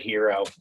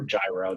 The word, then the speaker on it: gyro: And, you can always get a good hero, or gyro, depends on how you pronounce it.